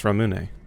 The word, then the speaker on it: Ramune: Is it Ramun or Ramune? Since I'm probably going to be saying that a lot. Ramune. Okay, well there's your answer for how do you restore your sanity, Hemlock. Apparently, it's Ramune.